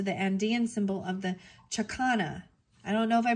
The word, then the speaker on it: chakana: geometry refers to the andian symbol of the chakana I don't know if I pronounced that right it's c h a k a n a chakana which is indicative indicative of spirit moving